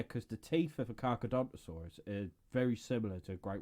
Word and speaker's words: Carcharodontosaurus: I was calling it a Charchasaurus, because I couldn't pronounce it. It turns out it was a Carcharodontosaurus.